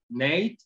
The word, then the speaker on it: NAIT: del Norte de Alberta por sus siglas en inglés, NATE, se pronuncia popularmente, así le llaman, NATE.